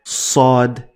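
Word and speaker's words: صاد: Sod is much heavier. In order to demonstrate my point, I am using this so that you get what I'm talking about. So in order to pronounce sod, sod, sod, sod, you need to lift the back of your tongue to the roof of your mouth to get it the best way.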